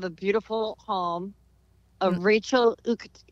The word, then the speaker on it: Uchitel: I'm actually sitting in the backyard of a beautiful home of Rachel Uchitel. How do we say it? Uchitel. I always say her name wrong.